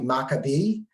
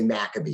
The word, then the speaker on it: Maccabee: Hebrew it would probably Maccabi um but we tend to anglicize it and say Maccabee you know like Torah